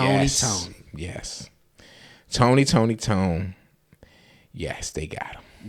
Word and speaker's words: Toné: The Why you saying tone is because it's spelled T O N E, but it has an accent over the E.